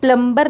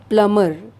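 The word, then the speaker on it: plumber: कहते हैं लोगों यह प्लंबर नहीं कहा जाता है इसको इसका करेक्ट जो प्रनंसीएशन है वह है प्लंबर प्लंबर यहां पर बी साइलेंट है इसे हम प्लंबर नहीं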